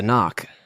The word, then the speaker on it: NOC: Non-official cover. Knock, pronounced knock.